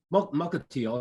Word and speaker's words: Mukilteo: I think I'm pronouncing that right. Mukilteo. Mukilteo.